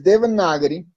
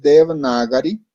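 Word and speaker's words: Devanagari: comenzar aclarar ciertas cosas el de vinagre o de banana gripe también se le puede decir pero la pronunciación más adecuada es de berna gary lo que significa es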